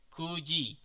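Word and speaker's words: 九時: Kemudian 9, kalau pengucapan angkanya adalah Q tapi menyatakan jam itu dibaca ku. Nah, so desu ne. Minasan mo ichido ishoni ite kudasai. Ichiji, niji, sangji, yoji, goji, rokuji, shichiji, hachiji, kuji, juji, juichiji, juniji.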